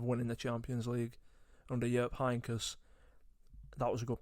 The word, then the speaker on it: Jupp Heynckes: the back of winning the Champions League under Jupp Heynckes. That was a good pronunciation, Eden.